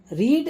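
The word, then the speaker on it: read: रीड रेड रेड, देखो रीड को हम इसीलिए अलग पढ़ते हैं, रीड रेड रेड।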